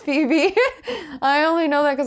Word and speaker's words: Phoebe: for Webby oh Phoebe Phoebe yeah it's Phoebe really that's how you spell Phoebe I always thought it was like faux web no it's Phoebe I only know that